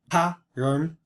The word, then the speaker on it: Ħáŕŕå: So this eshat ħáírŕå, and it should be ħáírŕå. These two vowels are in separate syllables, separated by this little glide.